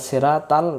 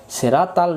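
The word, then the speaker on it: صراط: এটা আমরা ভুল করে ফেলি আমরা। এদি সিরাতাল মুস্তাকিম। সিরাতাল যদি পড়ি এ অক্ষরটা ভুল হয়ে যায়। সিরাতল মুস্তাকিম আমরা পরবর্তীকালে সেগুলো শিখবো আবারো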